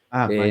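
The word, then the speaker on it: Meier: No, se escribe Meyer. Mayer.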